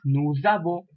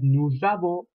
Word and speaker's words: nous avons: I mentioned to you in the previous lecture, in French you tend to join the words when you have an S in the end, so it is pronounced as nous avons, which means we have.